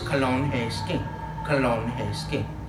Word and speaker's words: Kalonheski: And to pronounce it right is Kalonheski.